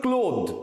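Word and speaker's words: clothes: যুক্ত এর উচ্চারণটা হচ্ছে ক্লোদ এর উচ্চারণটা হচ্ছে ক্লোদ ক্লোদ এর উচ্চারণ হচ্ছে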